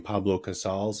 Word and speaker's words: Pablo Casals: Well, you have some quotes on your website from Albert Einstein, and I may butcher this man's name, Pablo Casals.